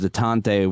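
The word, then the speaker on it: détente: part of President Obama's detente with, is it detente or detente? How do you say that? Detente.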